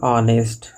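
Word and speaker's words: honest: उसी तरह यहाँ ऑनेस्ट, ऑनेस्ट में एच साइलेंट लेटर है और इसका प्रोनाउंसिएशन ओ से होता है, जो वोवेल साउंड है, इसीलिए ऑनेस्ट पर्सन के पहले एन का प्रयोग होता है।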